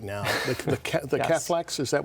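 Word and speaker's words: cephalexin: The the cathlex, is that how you pronounce it? Am I pronouncing that correctly? Uh, Catholics.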